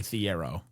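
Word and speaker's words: Thiero: to Arkansas he change he's like it's actually Theiero.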